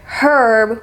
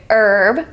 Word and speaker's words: herb: tongues of English as in British English or Australian English they may choose to pronounce this H we do not in American English I just wanted to